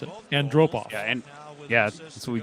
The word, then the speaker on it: Antropov: Ken Wilson pronounced it. Andropov.